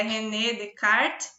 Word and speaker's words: René Descartes: esse o rené descartes é na verdade a pronúncia do francês é rené descartes propôs o conjunto de procedimentos padrões que organizava